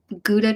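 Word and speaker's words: Gouda: I think I've oh goua cheese I guess you guys pronounce it Howa though okay that sounds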